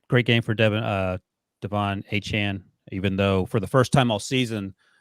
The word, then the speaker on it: Achane: Sorry, that's how he was pronounced. Yep. Achane.